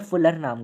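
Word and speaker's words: fullerene: है, उसने एक कुछ बनाया था ऐसा बकमिंस्टर फुलर नाम का, तो वो स्ट्रक्चर इससे रिजेंबल कर रहा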